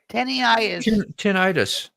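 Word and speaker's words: tinnitus: Titis tenitis. Tenitis. Tenitis. Tenitis. Tenitis. That's how we say it.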